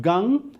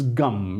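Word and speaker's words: गं: on that would gum it's not gun it's gum it's Sanskrit and the pronunciation is important because the daughter do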